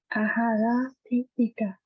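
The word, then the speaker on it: āhāraṭṭhitikā: So you have to pronounce non-aspirate T and aspirate T.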